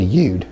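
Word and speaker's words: יוד: So I prefer to use the word ude.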